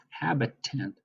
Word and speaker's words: habitant: with a wellestablished farm habitant habitant that sounds like the word habitat or inhabitant doesn't it habitant and I know